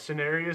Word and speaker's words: Cineris: And Is that's how that's pronounced? No, that I didn't know. Yes, Cineris.